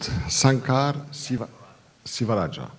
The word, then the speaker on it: Sankar Sivarajah: Our next speaker is, how do you pronounce it? Sankar Sivarajah.